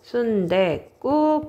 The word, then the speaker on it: 순댓국: 알아요 선생님도 되게 좋아하는데 순댓국 할 때 우리 사실 발음대로 한다면 요렇게 발음이 되거든요 순대국 요렇게 발음이 됩니다 근데 그거 알아요 순대국이라